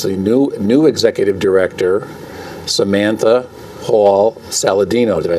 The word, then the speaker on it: Hall-Saladino: And we have with us the new executive director, Samantha Hall-Saladino.